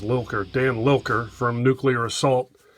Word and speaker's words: Lilker: anthrax as the drummer dan liker or i can't i think it's actually pronounced lilker dan lilker from nuclear